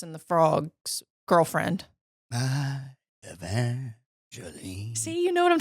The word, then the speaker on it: Evangeline: second guessing myself and thinking it was evangelene like the name of the Firefly and Princess and the Frog girlfriend hi Evangeline see you know what